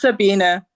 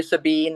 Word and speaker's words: Sabine: if I could First, do we pronounce your name Sabine or Sabina? It's Sabina. Yeah, it the German pronunciation has sounds a little bit like an A for English speakers, um but if you if you do say Sabine, if it slips out, I answer to that as well.